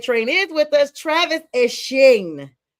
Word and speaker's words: Etienne: He is now going back to the Bayou State, and he is Etienne, which is how the French and Creole call it. He wants to be correctly pronounced.